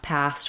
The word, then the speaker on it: passed: similar example to this we have passed with st same pronunciation as past I passed the ball